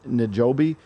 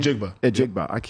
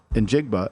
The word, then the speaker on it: Njigba: And then getting Smith Njobi, is that how you say his name? Njigba. Yep. I always mess that up. Njigba as a slot receiver to go along with Lockett and Metcalf.